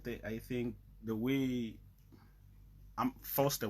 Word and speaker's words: Fostar: And one thing, I think the way I'm Foster with the A, not Foster with the E. Oh yeah, so basically it's just Foster, like a star.